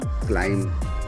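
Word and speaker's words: climb: एम और B sound जब म और ब की साउंड जब साथ होती है तो डी साइलेंट रहता है। जैसे हमने पम क्लाइम पॉम टॉम थंब प्लमबर ये सारी की सारी सिचुएशन पे हमने देखा कि ब की साउंड साइलेंट होती है।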